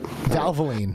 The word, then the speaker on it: Valvoline: Valvoline, yeah. Yeah, Valvoline. Yeah, Valve was messing me up there. I prefer to go that, I guess, muscle memory. If you have like Valvoline oil change facilities across the country that have